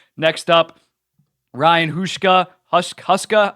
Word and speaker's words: Huska: Huska, I think I mispronounced this when I did a coaching tier list, but Huska, I believe it is.